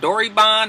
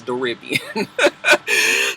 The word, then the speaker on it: Doribian: I was like, oh, was it Doribon? And somebody said, no, it rhymes with Caribbean. It's Doribian.